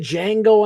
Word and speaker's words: Django: Did Django Unchained? I know this, the D is silent, knuckle.